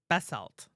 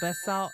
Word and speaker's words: basalt: The moon's surface is mostly made of basalt.